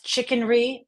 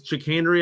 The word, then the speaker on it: chicanery: I just ask you did you just pronounce the word chicanery as chicken r on purpose I think it's chenry I wanted to say